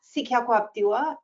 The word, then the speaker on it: Sekaquaptewa: I guess I can pronounce my name again. So I'm Sekaquaptewa, and I'm Hopi.